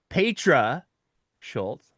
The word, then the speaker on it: Petra Schulz: to welcome our guest to the program tonight, Patra Schultz. Look what I did there. I got the name right. I had to write it down phonetically. You did well. Pedra Schultz, co-founder of um the organization Moms Stop the